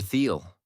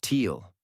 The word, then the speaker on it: Theal: Theal," I said, "It's pronounced teal." "I know. You wrote it wrong in your head." "I did." I said, "I keep thinking teal, like the color."